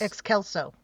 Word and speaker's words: Excelso: No, we know it's a hard C. We know that. Right. Well, yes. And so it would be Excelcus. Excelso. Right. I'm sorry. I'm doing the hymn. That's okay. Excelso. My point is things change. Yeah. Or she could have just gotten excited and put the emphasis on the wrong syllable.